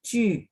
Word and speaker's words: 据: Cuman karena J ketemu U, itu mulutnya masih setengah bulat, Ibu. Jadi Ju.